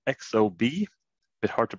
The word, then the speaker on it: Exobe: ago and i work with a company called xob a bit hard to pronounce but e-x-o-b-e dot com and uh we